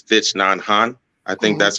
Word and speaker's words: Thich Nhat Hanh: away, I can't, I'm not sure if I'm pronouncing his name right, but it's Thich Nhat Hanh. I think that's how it is. He's Vietnamese. He was actually a proponent. Thich Nhat Hanh.